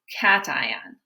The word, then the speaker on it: cation: a positive ion is cation so a cation everybody say cation cation cation it sounds like the word cat it looks like patient but it's cation so the cation is